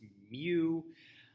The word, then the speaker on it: mu: mu here it is it's uh written mu and pronounced me um it is the